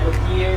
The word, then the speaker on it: luthier: Isa ko ka guitar tech or guitar luthier there sa Davao City.